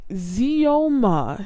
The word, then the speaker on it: Xioma: I want to pronounce his name correctly. Oh yeah, okay. Zioma.